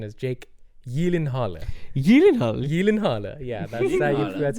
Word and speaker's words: Gyllenhaal: say it and apparently the correct the correct pronunciation is Jake Yen Halla Yen Yen Halla yeah that's how that's how